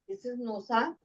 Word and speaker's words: Gnosa: वो बताते हैं पहला सिंबल है नोसा जी एन ओ एस ए इसकी स्पेलिंग है जी से स्टार्ट होगी अब ये इसको इधर